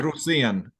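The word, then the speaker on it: Rosén: Rosen is really how you pronounce it.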